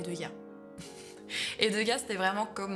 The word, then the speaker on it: Degas: Bon, entre nous, il y a toujours voulu qu'on prononce Degaze, mais on va appeler Degas.